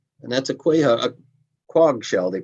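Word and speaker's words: quahog: showed this shell and that's a qua a quag shell they pronounce it and um but there were wamp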